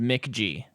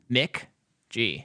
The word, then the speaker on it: McG: The director of this movie is a guy named Mick G. But it just said MCG. Mick G. Yeah, I know. It just... That's how you pronounce it, okay?